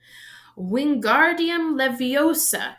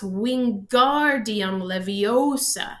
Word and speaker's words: Wingardium Leviosa: having much more luck Wingardium Leviosa he shouted waving his long arms like a windmill you're saying it wrong Harry hurt Hermione snap its Wingardium Leviosa make the GAR nice and long you do it then